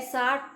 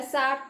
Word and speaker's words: SAARC: A SAARC country is correct because it's not an abbreviation, it is an acronym. Okay, so we are not pronouncing the words individually, but like a whole word we are pronouncing.